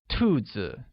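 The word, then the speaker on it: 兔子: I have 5 rabbits translates as 我有 5 只兔子, where rabbits translates to 兔子 and is pronounced with a falling tone.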